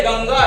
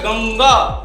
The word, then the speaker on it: गंगा: पे मिला हुआ है यदि पीछे ग है और ये ग भी क्या है इसी का अनुनासिका इसका अनुनासिक ग का है तो ये गंगा इस टाइप से इसका उच्चारण होता है गंगा है ना तो ये